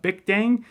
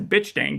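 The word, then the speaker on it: Bich Dang: called Bic Dang, but it's spelled B-I-C-H Dang. So in the book, while I'm reading it, I'm just reading it as bitch dang the entire time. I'm thinking this is like some sort of like joke on top of the fact that she's a drug dealer and she's also got all this stuff. But he pronounces it there, bic dang.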